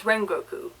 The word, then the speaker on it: Rengoku: So it's Rengoku. Okay, I'm going to try and keep... And again, I've lost my train of thought. This is where I get sidetracked. The Rengoku actually ends up defending the car while Tanjiro